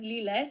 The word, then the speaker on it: Lile: Lilja, that's how it's pronounced.